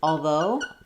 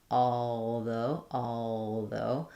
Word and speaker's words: although: We have a question about the word although and whether the L is silent. So in although, I tend to use the L there. Although. I think you could, if you did although, you could hear how it sounds slightly different.